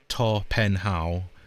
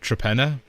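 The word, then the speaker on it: Torpenhow: So the place is to penha which apparently in three languages is hill hill. And then there's a hill in there. So that's the fourth hill, but it's actually pronounced Trapenna.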